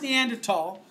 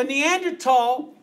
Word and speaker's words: Neanderthal: It's pronounced Neanderthal because it's not an English word. Okay? So Neanderthal, even though it's spelled with a TH, Neanderthal is a different species.